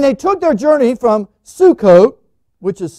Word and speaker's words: Sukkot: and they took their journey from sukkot which is suck off the way it looked it pronounced their worded there and encamped in ethium